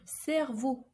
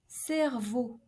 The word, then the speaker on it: cerveau: So each time we have an EAU, we should pronounce a closed O, comme like in the word beauté, beauté, which means beauty, or cerveau, brain, cerveau.